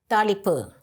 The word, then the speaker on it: thaalippu: It's called talipu. Talipu. Talipu. Okay, is my pronunciation okay?